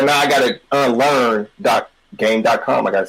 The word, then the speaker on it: Game.com: It was actually just pronounced Gamecom. Oh, that's like, okay, I'm stupid. That's like it is a .com. It is styled as a .com, but they called it Gamecom.